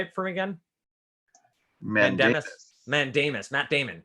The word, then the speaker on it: mandamus: Mandamus.